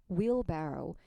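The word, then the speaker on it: wheelbarrow: will 발음에 주의하세요. will 아니에요. will barrow.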